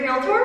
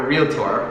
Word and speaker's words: realtor: A realtor? A realtor. That's Okay. the proper pronunciation. Not realtor.